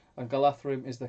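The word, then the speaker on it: Galadhrim: plus on foot um josh then says and galatherum is the correct pronunciation the dh becomes a soft th sound in tokens elvish everyone usually says galadrim uh gil gil glad rim daniel moss hi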